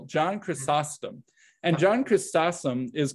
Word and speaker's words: Chrysostom: to say uh chris chrysostom john chrysostom i'll let you you know add in an extra syllable john chrysostom and john christosome is